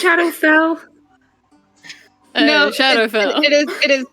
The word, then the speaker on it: Shadowfell: No, it's not Shadow Hell. It's Shadowfell.